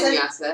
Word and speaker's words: Vinyasa: Is that how you pronounce Vinyasa, it?